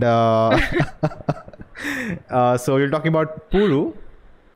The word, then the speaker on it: Puzhu: you're talking about pulu hopefully the pronunciation is right no no no it's not right actually i got a comment on my channel that you are one of the rare ones who got it right so it's supposed to